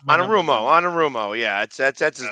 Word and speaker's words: Anarumo: Anarupo.